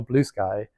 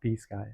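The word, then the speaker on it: Bluesky: it's B sky or blue sky and uh I think the consens of it people should pronounce it Blue Sky not be Sky I don't know um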